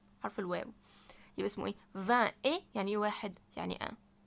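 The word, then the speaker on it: vingt: 20. خدت بالكم ان انا في حرفين ما نطقوش. الحرفين دول مش هيتنطقوا. الفي الجي قصدي والتي مش هيتنطقوا.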